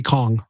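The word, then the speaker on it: qong: Uh, I can't say spell it. Q o n gong. It would be Kong.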